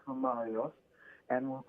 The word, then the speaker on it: Marios: Basically, normally you have an S on Mario. So it's Marios Frangoulis, and that's the Greek way of saying it.